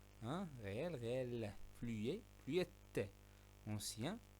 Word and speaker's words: ancien: Ancien, on ne prononce pas N.